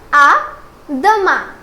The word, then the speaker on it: à demain: Now let's try to put emphasis on its pronunciation. So it is à plus tard. À plus tard. And this is à demain.